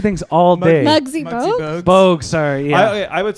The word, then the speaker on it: Muggsy Bogues: If she was super tall, What if she's like Bugsy Bowles? What? I can't. I'm mispronouncing things all day. Muggsy Bogues?